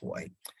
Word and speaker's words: Hui: I'm not speaking in Cantonese. In fact, I'm speaking in Putonghua when I pronounce the word Hui. In Canada, it's Hui.